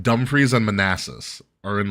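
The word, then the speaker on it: Dumfries: free but it's it's spelled like dumb fries it's like dumre and Manasses are in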